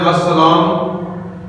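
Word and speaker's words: السلام: जाता है उसके अंदर तो लाम साइलेंट होगा डायरेक्ट अनित को सीन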